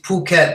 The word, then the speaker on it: Phuket: there just let play carry on Arwen it's Phuket by the way I always hear it pronounced incorrectly innit word it